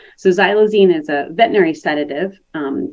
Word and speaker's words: xylazine: since the pandemic and xylazine is the way that it's pronounced that X is pronounced as a z so xylazine is a Veterinary sedative